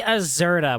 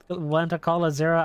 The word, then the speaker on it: Azura: I keep wanting to say Azurda when I say her name. Go figure. The Xenoblade player wanting to call Azura Azurda.